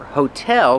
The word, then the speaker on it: hotel: Remember, hotel put the stress on the second syllable. Hotel. Not hotel, but hotel.